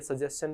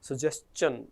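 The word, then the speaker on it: suggestion: होता है, याद रखिएगा ये सजेशन नहीं होता, दिस इज सजेशन, इसके लास्ट में च का साउंड आता है, सो दिस इज सजेशन।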